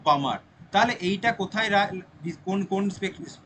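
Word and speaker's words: Balmer: এটাকে আমরা বলি বামার। উচ্চারণটা এরকম, মানে এল এর উচ্চারণটা হবে না, বামার।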